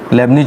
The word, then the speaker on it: Leibnitz: Type 6 रैखिक अवकल समीकरण या लेबनिज रैखिक समीकरण, इंग्लिश में इसे कहते हैं लीनियर डिफरेंशियल इक्वेशन, और लेबनिज को कहते हैं LEIB लेब, निड्ज, टी साइलेंट है, लेबनिज बोलते हैं हिंदी में बस केवल, लेबनिज डिफरेंशियल इक्वेशन।